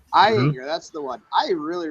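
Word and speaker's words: Ayinger: The one I had yesterday was the I can't pronounce the one that starts with AY. It's Eyinger. Eyinger, that's the one.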